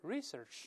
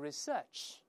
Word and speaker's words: research: 性的研究 research，当然英国人会读成 research，美国人读成 research，重音在前面。